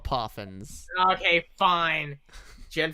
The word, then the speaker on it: Poffin: and gen four had poofins they're called they're called poffins okay fine gen 4